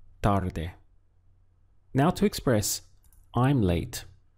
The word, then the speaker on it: tarde: Boyer upper arm a the word for late in Spanish is tarde we have two syllables tar and de tarde now to Express I'm